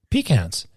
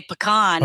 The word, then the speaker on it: pecan: four ways let's see it's all how you put the accent it's the emphasis on the wrong syllable once again all right